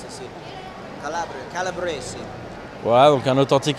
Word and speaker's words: Calabria: How do you say Calibre in English, in Italian? Calibri? Calibri, right? You come from Calibri? Oh, Calabria. Calabria. Calabria, yeah.